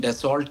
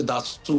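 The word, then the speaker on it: Dassault: कहा उसको वैसे तो अंग्रेजी में डेसोल्ट कहते हैं जो स्पेलिंग्स है उसके लेकिन असल में फ्रेंच में उसे दासू कहते हैं तो उनके वक्त को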